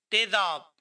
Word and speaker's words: تیزاب: पहला मुरक्कब लफ्ज तेज है। दूसरा मुरक्कब लफ्ज आब। तेज, आब, तेजाब। तेज यानी शदीद या काटदार।